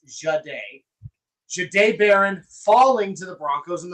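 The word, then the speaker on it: Jahdae Barron: Not a single mock, not a single mock from anybody ever had Jade Baron, and that's how it is pronounced, by the way. It's Jade. Jade Baron falling to the Broncos and the Broncos selecting him.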